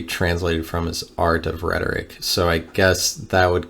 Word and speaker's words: rhetor: Okay, so rhetoric comes from the Greek word rhetor. That's how it says it's pronounced, rhetor.